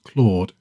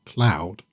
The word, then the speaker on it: Claude: It's quite grating at first as Sabour repeatedly mispronounces Claude as cloud.